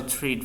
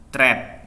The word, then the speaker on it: treat: I was always interested in art, so that was a special treat for me. A special treat, bukan threat ya, bukan ya, paling sering saya dengar threat sih.